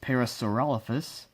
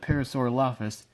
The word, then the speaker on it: Parasaurolophus: Actually, it's pronounced Parasaurolophus, but I like to call it Parasaurolophus because that's how I've pronounced it since I was a kid.